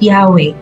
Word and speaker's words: Yahweh: In Hebrew, it is written as four letters, pronounced as Yahweh, and is thought to